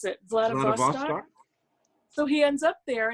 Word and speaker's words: Vladivostok: And so he ends up in, how do you pronounce it? Vladivostok.